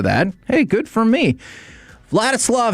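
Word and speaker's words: Vladyslav: Vlatislav Herkyitch is a skeleton athlete.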